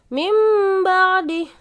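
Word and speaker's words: مِنْ بَعْدِ: Mim ba'di. Nun sukun ketemu ba.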